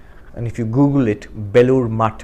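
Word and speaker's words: Belur Math: And if you Google it, Belur Mutt, Mutt means monastery. It's spelled the same way as math, M-A-T-H.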